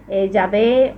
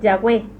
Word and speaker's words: Yahweh: Vav Hei, que es Yahvé o Yahweh. Entonces no significa, en ningún momento significa destrucción o el destructor, no, o algo así. Es la forma castellanizada del vocablo hebreo Yahvé, Yahweh o Javé.